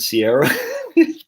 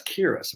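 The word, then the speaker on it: Ciara: and do you know c-i-a-r-a isn't sierra coley's got a friend akira and i said but i saw her name said uh sierra's because that's kira what irish dude that's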